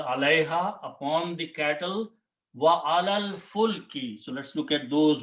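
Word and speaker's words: عَلَى الْفُلْكِ: So when you read together, you do not pronounce this, you do not pronounce this, and you pronounce alal. This lam combines with this lam, alal fulki, upon or on the ship.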